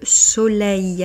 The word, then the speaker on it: soleil: Pour la prononciation, le soleil, alors ce son ei n'est pas toujours évident, essayez de le pratiquer.